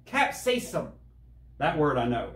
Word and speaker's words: capsaicin: that go ahead i don't know how to pronounce it either or the recent alrisim caspian garlic powder no what it's capsaicin capsaicin that word i know it's the first one